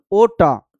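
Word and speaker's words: aorta: ओटा सबसे बड़ी धमनी है जिसको हम बोलते हैं ओटा। ओटा बोलते हैं। ठीक है? आर साइलेंट होता है।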